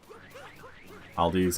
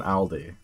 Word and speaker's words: Aldi: wait until you learn how it's actually meant to be pronounced which isn't Aldi is it oldi it's like all I can't do it but